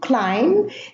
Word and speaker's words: climb: Now, the first words here, thumb, bomb, climb, they end with a silent B, and they are all preceded by an M. So B after an M is silent in those words.